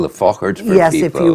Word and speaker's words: Faughart: And we should actually spell the Fochart for yes, people.